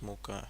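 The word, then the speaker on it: Mucha: really like er Muka I think it's pronounced Muka in English as well Al phon maa's work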